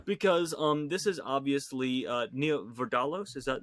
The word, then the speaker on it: Vardalos: Because this is obviously Nia Vardalos, is that how you pronounce it?